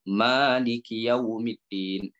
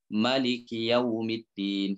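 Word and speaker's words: مَالِكِ يَوْمِ الدِّينِ: Ma tu dipanjangkan. Maliki yaumiddin. Dalam bacaan yang lain ia dibaca sebagai Maliki yaumiddin. Jadi ma tu tidak dipanjang, tidak dibaca dengan panjang. Okey. Baik. Ini dua cara baca, dan kedua-dua bacaan ini adalah sahih dan boleh dibaca. Okey.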